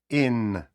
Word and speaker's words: in: використання preposition of place in Зверніть увагу на вимову не кажеться не говоримо ін і не і у закритому складі ай вимовляється як українська и не як і In The cat is